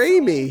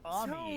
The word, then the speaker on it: Ami: The little cricket always calls her Amy. So big. Yes, but it's pronounced Ami.